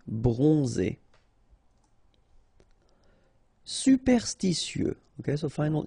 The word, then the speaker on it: bronzé: So O-N, on, and then Z. It's really pronounced like Z. Bronzé. Bronzé.